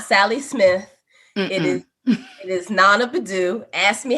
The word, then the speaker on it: Naana Badu: And, here I am entering in as Naana Badu. The name on the resume is not Sally Smith. It is Naana Badu.